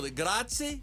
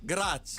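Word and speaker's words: grazie: Gratzi. Gratzi. Gratzi. Prago. Moto Gratzi. Thank you very much. Moto Gratzi. Moto Gratzi.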